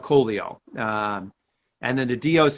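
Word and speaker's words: Collio: yep and then um the doc is actually called the polio but they call it coleo um and then the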